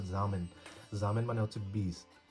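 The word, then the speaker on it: Samen: German ভাষায় সামেন, সামেন না, উচ্চারণটা হবে জামেন।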